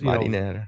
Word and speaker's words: Marinera: is now renamed the Marinera or Marinera, I don't know how to say it, but it's now under Russia's Marinera. That's Marinera. That's sailor as opposed marinara is a sauce out of Italy.